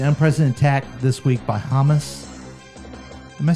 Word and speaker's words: Hamas: Which country is devastated by an unprecedented attack this week by Hamas? Am I saying that right? Yeah, Hamas.